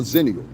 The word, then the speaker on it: Zennial: I'm a Zennial. You understand what I'm saying? I'm right between Generation X and the Millennials in the year I was born. So I'm a Zennial. That's how it's pronounced.